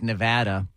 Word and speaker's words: Nevada: it Nevada Nevada I lived in Las Vegas Nevada for uh years a few years and uh and I learned that it was pronounced Nevada um you know the Hollywood Walk